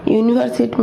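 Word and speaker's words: university: यूनिवर्सिटी जो कि हमारा यू जो है ये भी एक वावेल है, लेकिन उसको जब हम प्रोनाउंस करते हैं, साउंड करते हैं, तो वो बोलते हैं यू, तो वाई का साउंड आ रहा है, यो का साउंड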